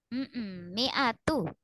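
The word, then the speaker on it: مِائَة: Mi'atu. Enggak panjang. Mi'atu sabiratu yaghlibu mi'atain. Yuk. Fa iyakum minkum mi'atu sabiratu. Mi-nya enggak panjang. Mi'atu.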